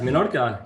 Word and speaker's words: Menorca: and photography right there on the island of Menorca. How do you say that? Yes, Menorca.